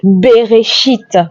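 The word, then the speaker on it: בראשית: Le premier mot de la Bible se dit en français au commencement, mais en hébreu se dit Bereshit. Voyez-vous, Bereshit. Et voilà comment ça s'écrit, Bereshit.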